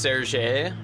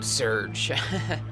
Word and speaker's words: Serge: this one so it's pronounced Ser I always uh was just called them Serge I mean it's open to interpretation I think it was